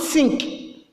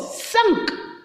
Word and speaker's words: cinq: Not sink. Okay? 5 is called what? 5. 5 is called what? Sank. Remember, I said not sink. It's what? Sank. Sank.